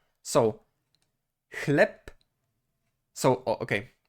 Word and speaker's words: chleb: It is pronounced with the voiceless counterpart, which means p, p, p. So, chleb. So, okay. Chleb is pronounced as if it were chleb.